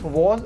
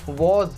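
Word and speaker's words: was: Helping verb होती है इसकी वॉज और वर। जी हाँ, वॉज, वाज नहीं, कुछ लोग वाज कहते हैं, बट कोई दिक्कत नहीं, बेटर रहेगा अगर आप लोग बोले तो वॉज। वॉज इज the right pronunciation.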